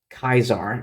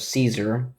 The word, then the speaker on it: Caesar: it out why um why it's pronounced Kaisar instead of Caesar.